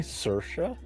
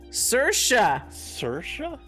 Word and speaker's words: Saoirse: See, there's one that's like Circe and it's like totally not spelled like that. Hold on. Go ahead. Are you getting Google to help you? Saoirse? Saoirse?